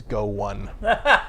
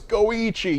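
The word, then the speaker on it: Go1: as Go numeral 1, and Jeff read it as Go 1, which is not that surprising though. I mean, you can keep all that esports stuff straight, right? I'm sure I'd mispronounce something else in one of the other categories, but I was like, no, it's Goichi, you fool!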